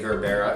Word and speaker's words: Gerbera: You're gonna need about 4 to 5 stems of baby's breath, 8 stems of Gerbera daisies. I call them Gerber daisies, but people say Gerbera because that's how you spell it.